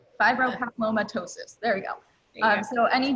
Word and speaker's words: fibropapillomatosis: anyone who doesn't know for, I probably can't pronounce it correctly. Fibropapillomatosis. Fibropapillomatosis, there we go.